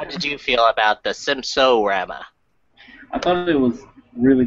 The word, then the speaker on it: Simpsorama: Simpson fan myself, I wanted to start off with Simpsons-orama, if we could. Isn't it just Simpsorama? I'm sorry, I mispronounced.